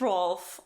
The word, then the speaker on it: Rolf: I missed Rolf. Aw. Mm-hmm. That's great. The subtitles on Apple TV say Ralph, They do. like spelled like Ralph Wiggums, but like it's definitely supposed to be Rolf.